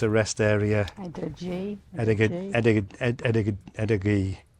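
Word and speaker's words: Edaggee: Edinburgh. It's spelled E-D-G, no, E-D-A-G-G-E.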